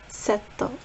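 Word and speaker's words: セット: In Japanese it's setto.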